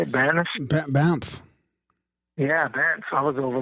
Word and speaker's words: Banff: Banff.